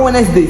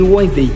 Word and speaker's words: Wednesday: personnes qui disent Wednesday Wednesday Wednesday c'est pas Wednesday c'est Wednesday Wednesday Wednesday Wednesday on dit pas Wednesday on dit Wedesday tu vois tu dois apprendre à prononcer ces mots.